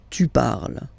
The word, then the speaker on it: tu parles: So you've got the two first forms, you pronounce them the same way. You write them differently, of course, because you've got here, and then you've got and s, okay? But then phonetically, they are the same.